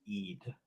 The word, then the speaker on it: Eid: It's runes of Eid.